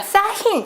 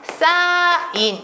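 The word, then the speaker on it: 쌓인: 우리가 싸힌 이렇게 발음하지 않아요. 싸인 이렇게 발음합니다.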